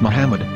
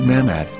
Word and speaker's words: מחמד: According to Ben Yehuda's Hebrew English Dictionary, it is correctly pronounced as Muhammad, not Mamad.